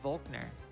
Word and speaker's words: Volkner: pokemon we use breadsticks it's pronounced faulkner that's how i say it i always said volkner i call him minato